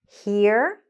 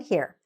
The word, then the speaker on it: here: There's an H, and we do need to hear that H, and we do actually pronounce that H. And here we don't, because there is no H. But when there is an H, very often, not always, the H needs to be pronounced.